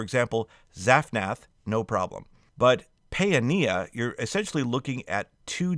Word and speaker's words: Zaphnath-paaneah: But Paeania, you're essentially looking at two different A sounds, pa and a. So Paeania. But if you say Pania, that's fine too.